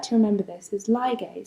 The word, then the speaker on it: ligase: So the way I like to remember this is ligase, so it sounds like the word ligate, right?